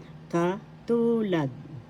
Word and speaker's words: katulad: Katulad. Katulad. That means similar. First syllable ka, second syllable tu, third syllable lad. The second syllable has the accent. Katulad.